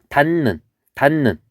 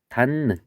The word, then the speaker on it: 닫는: 그래서 디귿하고 니은이 만났을 때 요 디귿이 니은이 되고 원래 니은은 니은으로 있는 것.